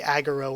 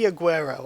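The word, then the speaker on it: Agüero: my videos and stuff i still say agaro all the time even though it should be aguero i'm pretty certain it is meant to be aguero but i say agarose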